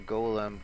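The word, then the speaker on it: GOLM: bit which is a Golem go olum much to a surprise he ends up being pronounced like golden anyway at the side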